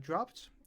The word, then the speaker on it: dropped: Uh dropped uh ends with a p and then ed d. So the pronunciation is dropped with a t sound at the end.